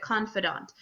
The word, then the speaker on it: confidant: snoody way to say it but you do pronounce it Confidant and what is a confidant um guessing like